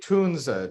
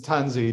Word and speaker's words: Tunze: is it judsy well so the Germans say tunza just like Porsche or Mila uh the the accepted English pronunciations tanzi just because our grammar rules that's roughly how it would be said so never knew how